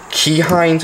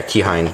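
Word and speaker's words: Keihin: save an original carb the original key hind I think is how you say it ke e i h i n yeah keine or however you say it you're better off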